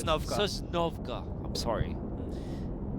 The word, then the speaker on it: Sosnovka: be the shores of yeah, Sosnovka.